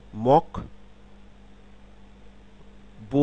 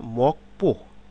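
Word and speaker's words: 목포: বিউপ পরিবর্তিত হয়ে পবে যেমন মক বো না মকপো মকপো ঠিক তেমনি দোলসত পাপ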